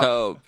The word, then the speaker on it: taupe: How you say it? Taupe or top? Taupe. Oh, taupe. Sorry.